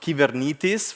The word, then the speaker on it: Kubernetes: It's I heard from I learned from my wife that it's pronounced "kivernitis" for real. So, pardon me if I going to just say Kubernetes all the time. It's kind of a Italianization of of the word, but I know that